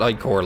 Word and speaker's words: ichor: And yes, I'm gonna pronounce it ichor like Tiberium, like like the screen in CNC3.